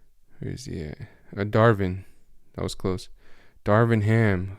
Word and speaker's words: Darvin: assistant coach from the bucks um is it durbin let me see i'm gonna look it up for you guys because i don't want to get his name wrong where is he a darvin that was close darvin ham who coached kobe